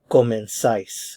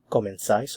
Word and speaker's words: comenzáis: So different pronunciation in Spain for the Z sound. In Latin America, it's like an S sound, but in Spain, comenzáis, thais.